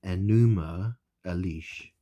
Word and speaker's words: Enuma Elish: It's called the Enuma Elish. Enuma Elish. Enuma Elish. Something like that. So it's enema. The word is spelled Enuma, as opposed to Enema. So Enuma or Enema Elish, right?